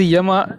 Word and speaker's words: Yama: Rama is pronounced as Yama in their own language. Yama, Yama, it may differ.